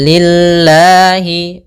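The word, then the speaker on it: لله: Kemudian pelafal lillahi ini lamnya tipis yaitu lafzulah didahului dengan huruf kasrah maka tipis.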